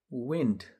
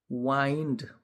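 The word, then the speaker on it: wind: अर्को शब्द छ विन्ड डब्लु आइ एन डी विन्ड भन्यो भने हावा बतास अब यसैलाई लाई वाइन्ड भन्यो भने बेर्नु कुनै कुरा बेर्नु जस्तो कुनै कोइलमा तार बेर्नु वाइन्ड त्यसैगरी अर्को शब्द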